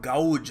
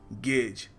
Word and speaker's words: gauge: Deep the ocean is, which is the wrong way टू से इट। आपको कहना चाहिए गेज। So remember the next time you see this word, it is pronounced गेज।